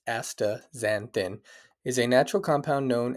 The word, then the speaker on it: astaxanthin: aaz zanthin pronounced AA zanthin is a natural compound